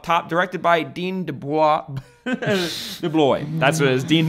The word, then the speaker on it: DeBlois: DeBlois.